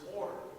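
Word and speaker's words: אור: In Hebrew, the word is or. It's got a little bit of a tongue roll. I'm not very good at it. But also it rhymes with the word Torah.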